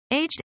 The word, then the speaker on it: aged: Aged is pronounced as two syllables.